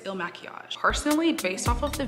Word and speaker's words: Il Makiage: we are testing um the ill machiage foundation pretty sure that's how you pronounce i think it's ill machias personally based off of